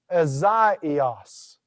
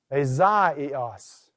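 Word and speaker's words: Ἠσαΐας: And so notice here the word for Isaiah, Azaios. Azaios. All right, notice how I took what was normally a diphthong and I pronounced each letter of that.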